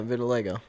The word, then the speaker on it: vitiligo: Vitilgo. Vitilgo. We have a co-orker who has it and she pronounces it that way.